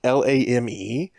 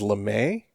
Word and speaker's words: Lame: Her last name is Lame, which I'm going to assume is LeMay as opposed to lame.